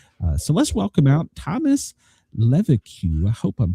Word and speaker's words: Leveque: It's Leveque, by the way. So it's that French thing that gets in the way all the time.